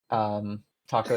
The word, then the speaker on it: Takko: He is known for his name is Arkin Taco. Taco is spelled Takko. No matter what you say, it's Yep, it's Taco.